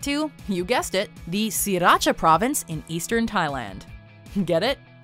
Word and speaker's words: Sriracha: Yet, even those who make the sauce have said it's necessary to drop the first R in sriracha in order to pronounce their product correctly, with the reason